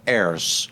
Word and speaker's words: Ayres: Today's guest is Ays. Did I pronounce that right?